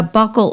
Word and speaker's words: buccal: And a buccal or buccal tie, is pronounced both ways depending on where you live, is when the frenum